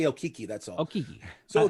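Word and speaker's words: Okeke: Okiki, you nailed it.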